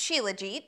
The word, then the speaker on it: Shilajit: Shilajit resin for $63.12. Yes, that's mine. It's pronounced Shilajit.